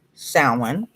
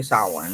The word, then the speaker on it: Samhain: essentials rituals recipes and lores for halloween from salmon or samahan or how it's actually saw one family but some goofy people say something a